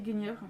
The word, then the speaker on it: Guenièvre: Moi j'ai toujours dit Guenièvre, parce qu'on pour le coup.